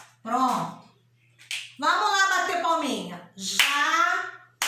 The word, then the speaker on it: jacarandá: Jacaranda. A última sílaba é acentuada e ela é a mais forte.